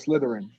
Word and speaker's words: Slytherin: Like slither. slither, Slytherin. slit. Slytherin.